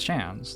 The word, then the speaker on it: Shans: The pronunciation of Shans is the same as Shans, like chance, but with a sh at the start.